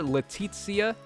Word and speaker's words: Letizia: okay so right there letizia is how they pronounced it so she looks pretty